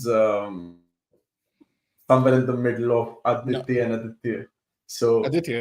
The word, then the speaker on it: Aditya: I call it Aditya. Aditya.